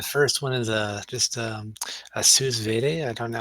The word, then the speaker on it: sous vide: the first one is just a sous vide. I don't know how to pronounce Sous it.